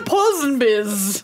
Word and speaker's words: Ponsonby: I'm the Ponsonbys. Yes? The how do you say my name? Ponsonby.